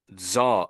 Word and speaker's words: Tsar: Zar and Zar, but both pronounced Zar.